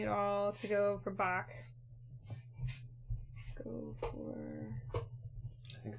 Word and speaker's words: Bach: Bach. Say it like a chicken. Bach, Bach, Bach. I'm saying it like the German Bach or Scottish Bach. Bach. No, I think It's a softer cuff.